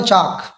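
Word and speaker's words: chalk: ठीक है, के से पहले आया, तो इस एल को हमने प्रोनाउंस नहीं किया, हमने इसको बोला चाक।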